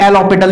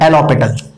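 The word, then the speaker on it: L'Hôpital: बहुत सी बुकों में इसमें एल ऑपिटल भी बोलते हैं, एच साइलेंट हो जाता है, एल ऑपिटल, ठीक है ना।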